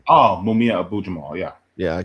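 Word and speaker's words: Mumia Abu-Jamal: then from the library, I got I can't pronounce his name, Mabia Abdul how do you say the black? He was next Black Panther. Live from Death Row. Oh, I'm re- Matulu Shakur. um, Mumia Abu Jamal.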